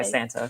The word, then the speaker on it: Santa: and the thing is my last name is traditionally pronounce Santa because it's Spanish but we usually just go by Santa so yeah oh okay